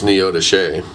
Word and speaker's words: Neodesha: I think they got married in Neodesha, which everybody that doesn't live in that area pronounces it completely wrong. What's it called? It's spelled Neodesha, but it's Neodesha.